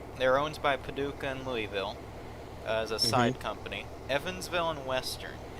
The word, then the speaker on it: Louisville: Oh no, I think Paducah and Lukeyville and Lukeyville. Wow. Lukeyville. Lukeyville. New name. It's not Lewis or Louis. It's Lukey. No, it's Louisville. Louisville. You gotta Yeah, say it like you're from there.